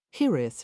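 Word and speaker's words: hiraeth: Hith, she repeated, trying to pronounce it with a tapped R, as he had.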